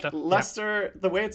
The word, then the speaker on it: Leicester: he said he said lester and i was like wait what that's how you say it like it doesn't it's got like 17 letters in it and it's pronounced lester so my point is